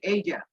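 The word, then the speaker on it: azure: The island is circled by Asia Sea, এটার উচ্চারণ হচ্ছে এইজা, এইজা সি।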